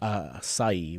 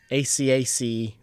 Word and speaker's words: acacia: acai wood. Acai. Let's turn to our producer. How's it pronounced? The wood. Acacia.